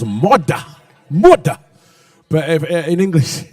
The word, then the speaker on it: Murdah: Which, if you're from Scotland, it's all right, it's Murdah.